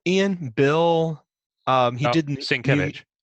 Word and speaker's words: Sienkiewicz: Sienkiewicz. Sienkiewicz.